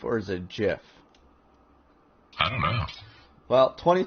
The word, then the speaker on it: GIF: we always prove is it is it a gif or is it jif i don't know well 20 20 i'm going